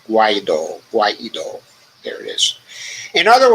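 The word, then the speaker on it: Guaidó: divisions within the international coalition that once backed Guaido. I pronounced that right? Guaido.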